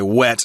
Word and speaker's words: whet: It's got that H in, W-H-E-T. Like when or where. In this particular case, it's to whet someone's appetite, or I just say wet myself, which I confused actually all the way through high school.